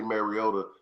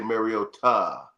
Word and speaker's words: Mariota: He said that's how you say his name. You don't say Mariota, you say Mariota.